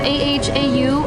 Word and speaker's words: Ahau: It's spelled A-H-A-U, Ahau.